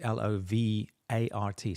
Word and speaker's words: Lovart: It's called, I think it's pronounced lovart or lovart. I'm not quite sure. So it's not love like Love. It's just It's just lovart.